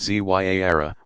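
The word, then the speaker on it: زيارة: Ziyara, pronounced Zyara, meaning visitation, is a form of minor pilgrimage still popular all over the world.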